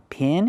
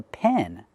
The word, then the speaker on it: pen: It's not a pin, it's a pen. A pen is an enclosed area for animals, not a pin. A pin is something different. Example, this is a pig pen. It's an enclosed area for pigs. It's called a pig pen, not a pig pin, but a pig pen.